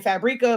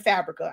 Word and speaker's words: Fabrica: So I be saying Fabrica, but I listened to an ad one day and I'm guessing I've been saying it wrong for years and it's Creative Fabrica.